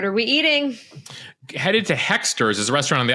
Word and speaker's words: Hoexters: Headed to Hexter's, is a restaurant on the Upper East Side we just discovered as we learn about our neighborhood. So Hexter's is spelled Hoexters.